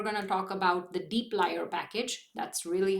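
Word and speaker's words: dplyr: today's lab we're going to talk about the Deep lier package that's really how it's pronounced the Deep lier package which is another core package of the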